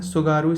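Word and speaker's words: Tsugaru: Hokkaido और Honshu के बीच में जो स्ट्रेट है निकलती है वो है सुगारू स्ट्रेट। टी से इसका स्टार्ट होता है, टी साइलेंट है, उसका नाम है सुगारू स्ट्रेट।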